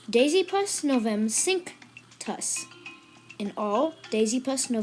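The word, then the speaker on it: Dasypus novemcinctus: know but it's simple it is Daisy plus Novum sink toss in all Daisy Plus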